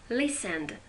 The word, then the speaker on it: listened: Listened, t is silent.